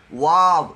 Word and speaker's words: واو: واؤ ایک تو یہ واؤ ہونٹوں سے ادا ہوگا، نہ تمام گول چون سی بنے گی، وا۔ دوسرا اس کو واؤ نہیں کہیں گے، اس کا تلفظ ہے واو، WAAW، واو۔ ہا، سینے سے اوپر